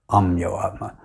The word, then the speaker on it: Ameyatma: way he pronounced it, Amyoatma. Yes. So your spiritual name is Amyo Atma or Amyo Atma. The Atma which cannot be measured. And I say it was a Bengali pronunciation because in 1979, on